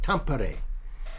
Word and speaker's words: Tampere: Tampere.